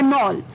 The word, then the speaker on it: knoll: शाम का, वो है नॉल। नॉल, जी हाँ दोस्तों, अटपटा वर्ड फिर से, KNOLL, नॉल। के साइलेंट है इसमें, KNOLL, नॉल यानी कि अ स्मॉल नेचुरल हिल।